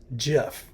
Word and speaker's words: GIF: to the individual all the way down it's GIF everyone calls it gif that's wrong as it